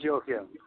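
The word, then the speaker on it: Joakim: is what is it jaim or how you any idea it's it's Yim Yim okay uh Mel Tonia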